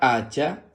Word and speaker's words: hacha: una hacha muy bien la palabra hacha se escribe con h a que suena a Así mismo porque recuerda que la H cuando está sola es muda luego ch a que